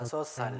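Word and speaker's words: 다섯 살: Entonces, igual tenemos Asot que termina con Shiot y Sal que comienza con Shiot. Entonces, se arrastra también. Yo Asosal.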